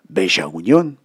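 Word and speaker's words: Bella Unión: ce coin qui s'appelait Bella Union, Beja Union, comme le prononcent les Uruguayos.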